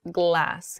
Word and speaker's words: glass: this essentially grass grass with glass however it's much more open my tongue is at the top of my mouth glass glass so grass glass um